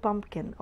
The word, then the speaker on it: pumpkin: ورا البي خلاها مخففة, It's not silent, it exists, it's pronounced, but it's very, very light. بقول pumpkin, okay?